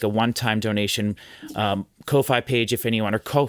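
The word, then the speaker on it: Ko-fi: a one-time donation um Kofi page if anyone or co Kofi. I'm not sure how you pronounce it. Might actually just I it's supposed to be pronounced coffee.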